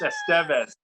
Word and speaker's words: Estevez: sorry got one Emilio Estevez bangs M its Estevez you you pronounce it it's not unlike Miguel and du